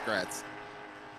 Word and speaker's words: Gretz: here with me so Alex great I'm almost positive is how he told me to pronounce his name uh let Meir it's yeah it's gret Alex gretz into the